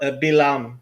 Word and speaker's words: Bilam: Is it Balaam? Balaam? How do you say it in Hebrew? but Bilam.